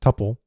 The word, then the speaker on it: tuple: contents can change whereas a tuple also sometimes pronounced tupple is enclosed within parentheses